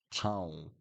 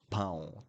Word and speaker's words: pão: Think about the word town when you say town, town in English. It's similar in Portuguese. That will help you to pronounce pão, pão, town. Okay? Pão de queijo, town. That helps with the pronunciation.